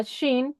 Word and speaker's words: Shin: Este primer carácter que parece una corona se llama Shin, que corresponde a nuestra SH.